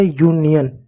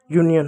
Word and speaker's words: union: UNION, यू का यू पढ़ेंगे, एन का न पढ़ेंगे, आई को छोटी की मात्रा पढ़ेंगे, ओ एन को न पढ़ेंगे, य न पढ़ेंगे, य और न। ठीक है, हो गया यन, तो हो गया यूनियन। ठीक है, यूनियन हो गया।